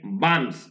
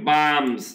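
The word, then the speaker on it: bombs: কি ফেলে দেয় এন্ড বামস এখানে উচ্চারণ কি বামস এইটা এস হবে এখানে উচ্চারণ বম না কিন্তু বামস বামস বোমা ফেলে দেয়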